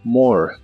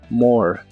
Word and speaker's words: more: y usaremos la palabra more que significa más la e del final es muda lo cual es muy común en inglés More more y usaremos la expresión